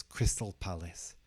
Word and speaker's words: Crystal Palace: would pronounce this as Crystal Palace Crystal Palace not Crystal Palace Crystal Palace and the palace is stressed in the first part so it's not Palace